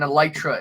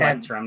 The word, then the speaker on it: electrum: And then an elytra is 10 elytra per gold, and then It's 10. Electrum, not Elytra.